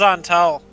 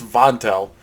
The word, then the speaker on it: Xonthal: gonna i'm gonna ask zantel if he's ever been to the tower it's vontell you don't know your own name no no i'm saying